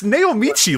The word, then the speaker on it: Naomichi: cuz we're Americans are weren't you dumb it's naomichi like you're not like we're idiots like we pretty mispronounce every I have never once not knowing